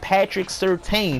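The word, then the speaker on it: Patrick Surtain: got another one that people don't know how to pronounce his name it's Patrick certeyn he was on them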